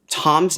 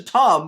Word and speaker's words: Thom: quick before i forget i said well yeah it's spelled t-h-o-m but it's short for tom drill that doesn't make it better that doesn't make it better tom in our world is short for thomas which is also spelled with an h but we don't include it when we show tom so saying it's it's